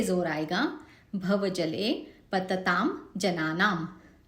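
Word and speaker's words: जनानाम्: भवजले पतताम जनानाम, आखिरी वाला जो म है आधा है, हलंत है, जनानाम करके छोड़ देना है इसको।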